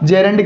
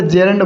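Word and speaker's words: gerund: वो हमारा क्या होगा, तो आप बोलोगे जी इसका करेक्ट प्रोनाउंसिएशन जेरेंड होगा। क्या होगा साथियों, जेरेंड होगा, न कि जिरंड।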